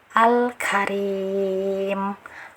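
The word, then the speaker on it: الكريم: harus dibaca jelas jadi cara bacanya al-karim jangan dipantulkan jangan jangan Alit ya Atau jangan ditahan jangan Ditahan lama jangan al-karim al-karim Nah itu fakta tidak boleh ya nah kemudian Nah di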